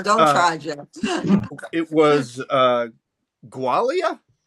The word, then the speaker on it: Gwalia: It was Gualia? Yes, Gualia is the That's very That's very good pronunciation.